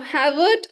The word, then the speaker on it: Javert: Now, Havert or Javert. It's written as Javert, but pronunciation is Havert. It's European. So pronunciation is a bit different than what it is written.